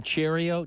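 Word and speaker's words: Chourio: Um we uh how what do you pronounce his name? Cheerio.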